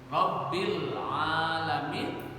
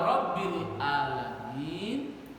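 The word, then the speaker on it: رب العالمين: Alif dan ain bisa menjadi beda arti. Ya. Rabbil alamin dengan ain itu Allah yang mengurus alam semesta. Ya, tapi kalau Rabbil alamin ya diganti dengan alif sudah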